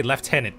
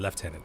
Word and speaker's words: lieutenant: Like the way they they they they say left tenant, but I think they write it as how how we would write lieutenant, but they just pronounce it leftenant.